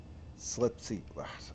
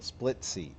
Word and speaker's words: Splitsy: I must be saying it wrong. I'm not dropping it. Would you split the bill? Split C. Okay, split C. That's what I'm messing up on. Split C. Split C did this. I've been saying it wrong this whole time.